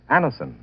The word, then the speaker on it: Anacin: You can get Anison at any drug counter.